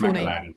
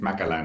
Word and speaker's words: Malan: It's Malan. It's Malan. About like 99.9% of the world's population has no idea how it's pronounced.